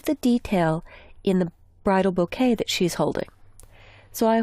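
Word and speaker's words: bokeh: rotate now there's a lighting effect called bouquet and that's actually how it's pronounced and if you'll notice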